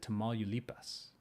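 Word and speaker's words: Tamaulipas: it tamalipas i would i would put the i would probably put the accent on the eye but that i was never good at accents in spanish that's where i lost all my points second to last syllable sure why not nueva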